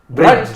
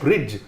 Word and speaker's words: Brij: Brudge, not Bridge. Bridge. No, it's Brudge.